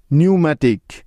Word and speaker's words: pneumatic: নিউম্যাটিক, PNEUMATIC, নিউম্যাটিক। এখন এস এর আগে পি সাইলেন্টের কিছু উদাহরণ, যেমন সাইকোলজি, PSYCHOLOGY, সাইকোলজি।